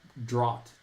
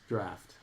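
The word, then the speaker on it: draught: so badly as drot. D R O U T is kind of the pronunciation, but because of laugh, I know that it's intended to be pronounced draft.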